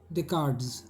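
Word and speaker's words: Descartes: हकस का अब देखिए ये स्पेलिंग थोड़ा भारी है प्रोन भारी है इसको कहते हैं डे कार्ट्स डेकार्ड और लिखते हैं सस कार्टस स्पेलिंग देखना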